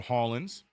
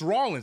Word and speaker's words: Ryan Rollins: It's Rollins. Is it? Am I saying it right? Is it Ryan Rollins? Or is it Hollins? Am I tripping? Here I go again, messing up roster. It is Rollins.